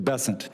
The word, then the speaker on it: Bessent: Cassidy um Mr bassant I'm always going to pronounce your name as if it was in south Louisiana and I'm gonna pronounce it with a French basson as opposed to bessent that's what those folks in South Carolina do um I'll try let